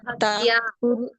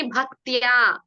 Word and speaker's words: ಭಕ್ತ್ಯಾ: ಭಕ್ತ ಹೇಳ್ತಿದ್ದೀರಾ ಭಗಿನಿ, ಭಕ್ತ್ಯ. ಭಕ್ತ್ಯ ಹೌದು.